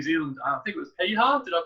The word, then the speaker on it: Piha: I think it was Piha. Did I pronounce that correctly? Yeah, Piha, yeah.